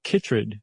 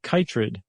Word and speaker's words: chytrid: a kind of fungus called chytrid or kitrid. Which one did you come up with pronunciation-wise? but it could be either, I guess.